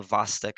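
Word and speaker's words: Chvostek: forp hypocalcemia yeah the vastic sign I learned that the CH is silent and tro yeah so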